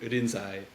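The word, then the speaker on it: Rinzai: century China uh who's whose name in Chinese was lingy in in Japanese uh would be pronounced more in irinsai uh and so that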